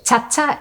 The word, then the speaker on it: Tata: a little another correction kagman is something that the US Marines proliferated because they could not pronounce that's Tata is the general native term Tata all of the peninsula